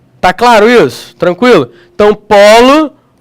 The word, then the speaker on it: polo: claro isso tranquilo então polo polo polo agora não tem mais acento mas ele não vai ser pronunciado com o pólo que é filhote de gavião beleza se vai pronunciar com o timbre aberto como se tivesse um acento agudo beleza maravilha ea pêra